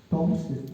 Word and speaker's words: Tomes: Toms se pronuncia, pero es tomes se escribe prolagación odontoblástica de Tomes.